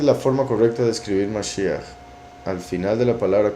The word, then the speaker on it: Mashiach: Sería con J para la pronunciación correcta en español. En inglés, por ejemplo, se pondría con CH, porque es Mashiach, con un sonido de garganta, gutural.